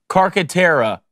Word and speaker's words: Carcaterra: Oh, Amy, I'm going to get this last name wrong. Amy Carcaterra.